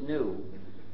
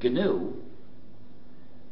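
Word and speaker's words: GNU: of our operating system please do not follow the dictionary if you pronounce it new you will get people very confused you see we've been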